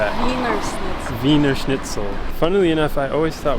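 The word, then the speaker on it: Wiener Schnitzel: How do I pronounce that? Venerell. Viner schnitle.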